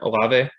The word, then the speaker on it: Olave: But I mean, like a Chris Olave, maybe I think it's Olave. Is that how you say it? Olave.